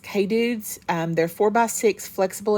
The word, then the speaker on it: Kedudes: get them off Amazon I think that's pronounced K dudes they're four by six